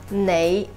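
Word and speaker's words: 你: mandarin would be whereas in cantonese the same word is pronounced as nay hopefully you can hear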